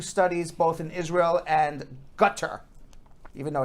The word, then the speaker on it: Qatar: adults meanwhile two studies both in israel and gutter even though it's pronounced you read it as qatar guitar that's exactly how it cut this is